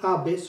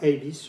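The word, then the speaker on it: Abbes: Si Johnny Abes, lo vamos a pronunciar a la española, Avis o Abes, si Johnny Abis hubiera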